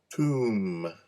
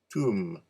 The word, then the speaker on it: tomb: What happened to the B? What B? I don't hear a B. Do you hear a B? I don't hear a B. I don't care how it's spelled. It has a B, but we don't say the B.